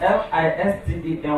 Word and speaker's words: listen: He said, because the T is silent.